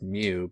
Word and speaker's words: mu: is micro and so the symbol is pronounced mu but it's microcoulombs is